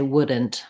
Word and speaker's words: wouldn't: wooden wooden we all also often don't say wouldn't with a t we do the same thing